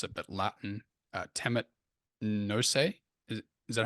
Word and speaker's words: temet nosce: not sure how to pronounce it, but Latin, temet nose. Is that how to pronounce it, Brett? Yeah, temet nosce.